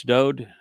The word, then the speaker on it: Dode: accept Yahweh's pronouncements that it's Dode, who the world calls David. It's just a mispronunciation of his name.